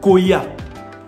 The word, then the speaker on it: Koya: Et ce même mot existe en lingala, mais se prononce Koya.